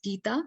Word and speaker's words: Gita: why it's called bhagavad-gita so Geet is it's pronounced as Gita so it's a it's a song of Lord